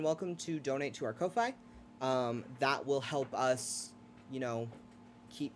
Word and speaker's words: Ko-fi: It's one of those, you buy us a Ko-fi. coffee. Yeah. I say Ko-fi. Yeah, I think it's Ko-fi.